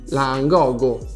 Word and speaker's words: Langogo: No, non è assolutamente come sembra, perché lui è un traduttore multilingua istantaneo di una marca impronunciabile. si chiama infatti Langoga. Langogo.